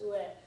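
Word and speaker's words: 上: Okay, so for example, yes, it's pronounced ue.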